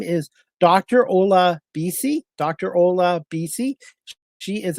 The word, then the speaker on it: Olabisi: Um, I tell people it's pronounced ola, like Spanish hello. Ola, then the letters BC. Ola BC.